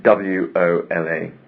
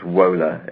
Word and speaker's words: Wola: W-O-L-A. It's Wola, as we would pronounce it. Yeah. But it's Wola, it's pronounced in Poland.